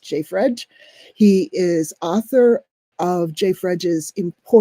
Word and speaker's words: JFREJ: Racial and Economic Justice, which is usually pronounced JFREJ.